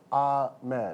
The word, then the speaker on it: Ahmed: It's pronounced Ahmed.